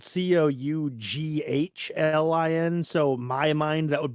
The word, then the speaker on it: Coughlin: audiobook is uh called cochlin okay even though it's spelled c-o-u-g-h-l-i-n so my mind that would be Coughlin right but the guy pronounces it cochlin like it has a K in it but whatever um cochlein